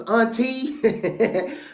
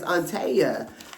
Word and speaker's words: Auntea: Ash and her PR, I thought her name was Auntie when I first saw her name pop up across the screen because it is spelled Auntea, but her name is Antea.